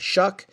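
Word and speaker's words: Shough: How do you pronounce that? Shuck, his card.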